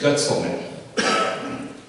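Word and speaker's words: Guetzelmann: The German pronunciation is Getzelman.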